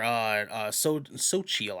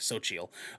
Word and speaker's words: Xochitl: This scene in question mentions America Chavez's or Xochitl, I think is how it's pronounced, if I remember correctly, Xochitl Gomez, their lesbian parents.